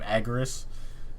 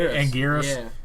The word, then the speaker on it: Anguirus: like the ones uh how do you say his name agaris thank you anguirus he shows up yeah